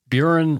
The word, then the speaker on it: Burin: Anyway, Burin rhymes with urine.